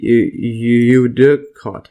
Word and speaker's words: eudicot: So root and shoot systems in a eudicot. Let's see this pronunciation.